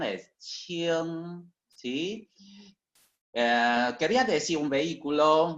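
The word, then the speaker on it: 轻: Más este componente, pronunciación es qing, ¿sí? Quería decir un vehículo muy ligero, ¿sí? Hoy también significa cualquier cosa ligera o liviana, qing, ¿sí?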